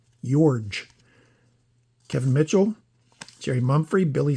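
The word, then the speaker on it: Iorg: Dane Orge. Most mispronounced name in TTM land right there. Yorge.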